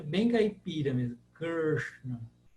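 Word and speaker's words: कृष्ण: para ficar mais fácil as pessoas costumam falar Krishna ou rva ou R as pessoas falam assim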